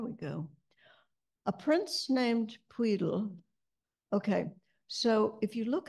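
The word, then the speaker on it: Pwyll: and it is pronounced as if you put your tip of your tongue at the front of the roof of your mouth right behind your front teeth and goats again got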